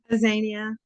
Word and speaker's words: Aania: Aania long a hi Aania.